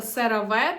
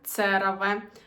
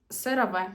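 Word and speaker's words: CeraVe: І доречі цей засіб читається сераве. Тут навіть написано сераве, бо деякі називають його цераве. Сераве. І в рекламі також кажуть сераве.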